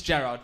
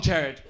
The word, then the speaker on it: Gerard: No, my name is Gerard, but however you want to say it, it's totally fine. Like, my dad's Irish, so he always says, Gerard, it's how you say your name. You're saying your name wrong, Gerard. So fine. And then I lived in France for a bit, and everyone would be like, oh, Gerard. Which was so beautiful.